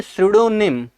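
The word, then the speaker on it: pseudonym: इसको पढ़ेंगे सुडोनिम।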